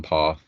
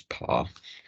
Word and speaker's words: PARE: use a dummy account on par or PIR depending on how you like to pronounce it for the purposes of this guide I will pronounce it as par so what is par